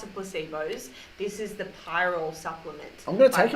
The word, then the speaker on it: pyrrole: Pyrrole's an amino acid, isn't it? Pyrrole. This is spelled P-Y-R.